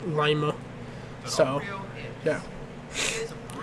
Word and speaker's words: Lima: It's Lima. Okay, get it straight. But yeah, all jokes aside, it's actually us locals from Lima, Ohio. We call it Lima and not Lima, because Lima is that's a Perunian.